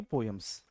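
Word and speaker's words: poems: पोयम्स, John के पोम्स, पोम्स भी pronunciation है बट we Indian pronounce it पोयम्स, John के पोयम्स।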